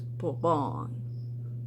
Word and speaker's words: Bourbon: It's Bourbon, because it's French.